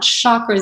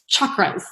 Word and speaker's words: chakras: And just so you know, it's not chakras, it's chakras. So if anyone asks you, it's really the pronunciation is chakras.